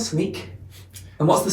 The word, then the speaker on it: Snyk: uh and so it's sneak it's it's s n e a k is the way to pronounce it uh but we'll spell